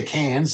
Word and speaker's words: Cairns: a flight to Cairns they say Cairns they don't pronounce their r or you can go